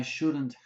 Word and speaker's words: shouldn't: I shouldn't have taken, shouldn't have, shouldn't have, shouldn't have. Be careful. Sometimes students say shouldn't have. I shouldn't have taken, but the stress is on shouldn't.